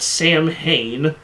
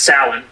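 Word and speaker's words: Samhain: as sacrificing children at Sam Hayne, the pagan celebration of the coming winter. That you got to say it right. Sour. The what? It's pronounced salin.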